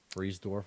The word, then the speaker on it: Friedersdorf: with um a guy named connor friedersdorf um freeze dwarf right is that how you pronounce it um no i think no you're